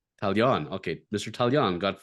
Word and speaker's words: Taillon: I've always wondered how do you pronounce his last name? Taillon.